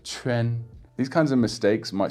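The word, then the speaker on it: quan: a coffee shop and I actually noticed him saying Q-U-A-N, pronouncing it as chuan instead of chuen.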